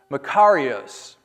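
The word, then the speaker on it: μακάριος: And so there is this Greek word that appears in the New Testament, and it is pronounced Makarios.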